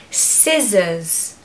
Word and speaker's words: scissors: so mischievous number 10 scissors scissors scissors they're useful okay so it's good to be able to pronounce them so the C is silent so take away the C and you're just going